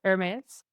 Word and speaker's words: Hermes: And say it like the French, like the fashion house Hermes.